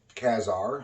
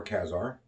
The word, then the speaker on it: Ka-Zar: here this is from kazar some people pronounce it i prefer kazaar number three from 1970.